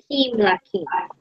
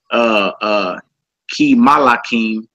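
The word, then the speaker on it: כִּמְלָכִים: And you wouldn't say Ki Malakim because it's a Shiva underneath that mem. Meaning if it's a Shiva, that mem is silent. Meaning you don't go pronounce Ma.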